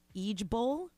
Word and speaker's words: IJBOL: So the preferred saying is now IJBOL, and it's pronounced Eejbol.